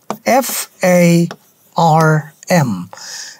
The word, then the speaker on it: farm: যে কোনো ওয়ার্ডের শেষে আর থাকলে উচ্চারণ করে না। Far, British. And far, American. এবার মাঝখানে দেখি। F-A-R-M.